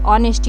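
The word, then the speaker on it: honesty: यहां पे एच जो है वो साइलेंट है। तो इसको रीड क्या करेंगे? ऑनेस्टी। ऑनेस्टी नहीं पढ़ेंगे। ऑनेस्टी।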